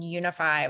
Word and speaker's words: Younify: also to our organization Unify, which is spelled funny, as my name is spelled funny, lots of extra Y's running around. It's YOUNIFY, and I'll put it in the chat.